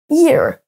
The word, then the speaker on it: ear: Si vous ne prononcez pas le H, vous dites oreille, ear.